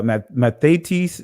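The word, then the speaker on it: μαθητής: in so this is uh uh methates that's the greek pronunciation of it but as we see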